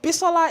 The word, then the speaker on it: Bisola: But Bisola is literally pronounced exactly the same way that it's written.